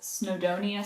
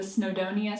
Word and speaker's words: Snowdonia: be caking up this snodonia sock by garthanor i was saying it wrong in the last video that was really triggering me when i was watching it back but the snowdonia sock anyway i want